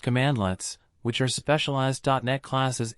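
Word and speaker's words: cmdlet: In PowerShell, administrative tasks are generally performed via commandlets, pronounced commandlets, which are specialized .NET classes implementing a particular operation.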